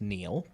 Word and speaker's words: Niall: I think that is pronounced Neil.